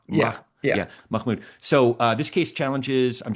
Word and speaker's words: Mahmoud: How do you say it, Mahmoud or Mah? Yeah, Mahmoud.